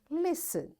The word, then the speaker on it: listen: So when I'll say listen the child because in listen T is silent. The child who is holding T will sit down. And this is how we say this word listen.